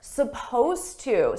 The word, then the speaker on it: supposed to: Now notice here, supposed to. Suppose is spelled with an ED. It's an ED verb, but you don't hear it at all.